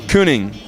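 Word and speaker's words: Keuning: Liz Kuning. Oh, like Dave Kuning of The Killers.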